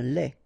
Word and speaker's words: lait: Un lait. Okay, so the only difference is the final thing here, they, you don't pronounce it, they, you don't pronounce it, so phonetically you only have this lait.